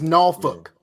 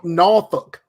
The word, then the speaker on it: Norfolk: out no folks yeah and it's Norfolk you got a cuss you gotta come on Norfolk Norfolk that's how you say it no hell no don't